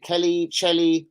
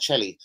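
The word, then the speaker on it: Chely: was one Zach Kelly c-h-e-l-y is it Kelly I'll pronounce that Shelly sorry that's why I'm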